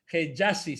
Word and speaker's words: Hejazi: Estamos efectivamente con Navid Hejazi, si lo estoy pronunciando bien, Navid.